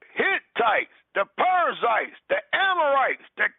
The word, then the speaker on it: Hittites: pites the hanit or not the hites I said that wrong one second cuz I need to say it correctly the canites the uh Hittites the perizzites the amorites